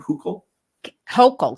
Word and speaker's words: Hochul: Is that how you pronounce her name? Hochul?